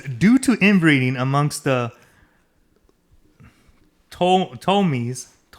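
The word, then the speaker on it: Ptolemies: So it says due to inbreeding amongst the Tomies. It has a P. I'm assuming the P is silent. Yeah, Tomies.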